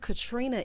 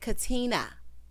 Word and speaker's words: Katrina: So he said, you know, I think Katrina is. She said, Katina. Katina. That's a pet peeve of mine. Like, take the R out.